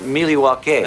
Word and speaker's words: Milwaukee: the beef drop-ins against Milwaukee's pronounced mealy walk it thank you which is